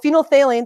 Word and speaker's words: phenolphthalein: It's called phenolphthalein. There's lots of P's and H's and TH's in there.